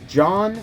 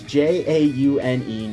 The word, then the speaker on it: Jaune: It's either John or Juan, but it's Jaune.